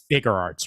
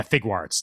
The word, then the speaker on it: Figuarts: going to mispronounce it it's shf figurearts right uh sh figuarts figuarts okay yeah figuarts thank you um farts sh